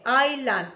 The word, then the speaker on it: island: You are here, te muestra con rojo dónde estás, for street, island, street, no pronuncies island, island, island, repetition, island, street, for street and